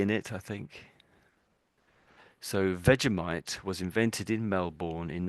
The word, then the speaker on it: Vegemite: And I think they would pronounce it as Vegemite. Vegemite.